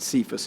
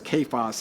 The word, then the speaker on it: Cephas: Now, sometimes we pronounce it Cephas in church, but it's a hard K. And when he says kephas, he means massive boulder.